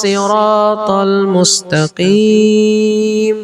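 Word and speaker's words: الصراط المستقيم: Ronya panjang tapi 2 harokat saja. Ihdinas siratal mustaqim. Oke, kalau gitu gampang kan kalau yang di sini ihdinas siratal mustaqim.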